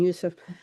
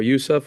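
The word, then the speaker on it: Youcef: So my Mohammed and Yusuf helped a lot because they're native speakers and they're young to manage things that I cannot do.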